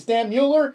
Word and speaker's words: Stan Mueller: one guy I do know how to pronounce. His name is Stan Mueller, That's right.